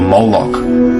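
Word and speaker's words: Moloch: which generally means king the MLK is vocalized as mik or molok in the mastic texts which is an authoritative text in Rabin Judaism it's from this pronunciation that we get the Contemporary name molok this dat is mostly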